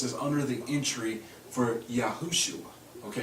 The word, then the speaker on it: Yahushua: reason the Yahweh people you'll either hear him say yua or yahushua the true name uh yahushua because they know again about the yahu on the beginning of their pronunciation it should be there but they're rushing through their own pronunciation so if they spell